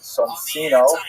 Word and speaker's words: Soncino: early printers were the Soncino family. I will probably pronounce it Soncino because, I was born in North America, but it is in situ, it would be pronounced Soncino.